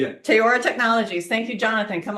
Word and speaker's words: Teyora: Um, this is, uh, Jonathan Gray with I'm pronouncing Teayora. Yeah. Teaora Technologies.